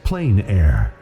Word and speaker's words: plein air: The French pronounce it plein air. Others say plain air.